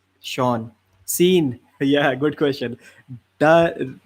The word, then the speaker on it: Sean: So how would you say Sean? Scene. Yeah, good question. The real Dumble. We will call Sean Scene.